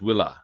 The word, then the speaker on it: villa: Um, but it's pronounced will spelled exactly the same.